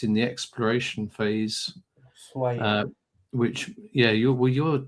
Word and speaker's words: Ushuaia: Ushuaia. Which yeah you're well you're you're Argentinian sir aren't you? You don't pronounce the H in Spanish it's silent. Well why write it then?